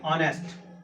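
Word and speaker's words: honest: हम इसका प्रोनाउंसिएशन करेंगे हिंदी में से कैसे लिखेंगे, ऑनेस्ट, ऑनेस्ट, because H is silent, H silent है इसलिए ऑ से इसका उच्चारण हो रहा है, ऑनेस्ट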